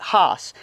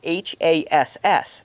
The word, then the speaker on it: Hass: And that is pronounced Hass, not Haas, and it's spelled H-A-S-S, not H-A-A-S.